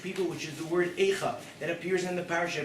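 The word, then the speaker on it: אֵיכָה: But the first time the word Eicha truly appears in the Torah is all the way back, Sefer Bereshis, Adam Arishon, after the sin of Adam and Chava. It's the same letters, different pronunciation.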